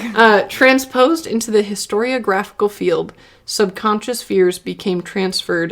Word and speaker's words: historiographical: contention transposed into the storyographical field subconscious that's a huge say that again transpose and you're just gonna you just want me to mispronounce it I said it right uh transposed into the historiographical field subconscious fears became